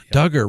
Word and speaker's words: Duggar: the josh duggar case duggar rhymes with hugger right i mean the